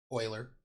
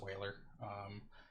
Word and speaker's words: Euler: there is this mathematician his name was his Euler it looks like it's pronounced Euler it's not Euler it's whaler and he did just a ton of math